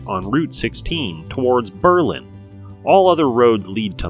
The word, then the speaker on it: Berlin: road foreign that's right Berlin not Berlin like Germany residents started pronouncing it this way due to anti-german sentiment during the first world war at about 10 000